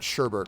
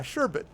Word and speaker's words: sherbet: apostrophe s good yup when they pronounce sherbert i think i still do because it's not sherbert right it's sure it's shepherd